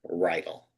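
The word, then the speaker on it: Riedl: And how do you spell it? Ryal. R I uh um R I E D L. Ral.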